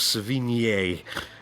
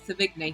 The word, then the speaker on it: Sevigny: Is it someone likes to pronounce with Sevigny, don't they? Like posh people like to Sevigny. I always say Savigny. I sound really cockney when I do it. I just say Savini normally.